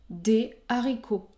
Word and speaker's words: des haricots: est-ce que 9e cas la liaison est interdite devant un mot qui débute par un h aspiré par exemple des haricots des haricots la liaison est interdite